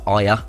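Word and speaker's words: Ajer: And Christopher Aya, I think it's how it's pronounced, but spelled Asia.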